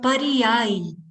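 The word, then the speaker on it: पर्याय: So I'm going to spell it one more time. PARIYAAY. So pariyai.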